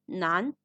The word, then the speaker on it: 男: Das rechte Zeichen symbolisiert Mann und wird Nan ausgesprochen.